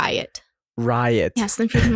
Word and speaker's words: Ryot: Did I pronounce that correctly? It's like Ryot.